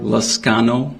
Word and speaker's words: Liscano: Liscano.